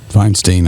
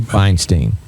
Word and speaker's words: Feinstein: Feinstein, I think's the way he says it. Feinstein.